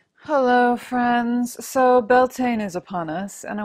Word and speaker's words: Beltane: equinox and summer solstice so beltane or bialtena is a more traditional pronunciation of it many of